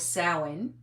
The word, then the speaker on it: Samhain: Anyway, so I want to talk to you a little bit about sen or sin as it's actually pronounced because it's like uh sour as in cow.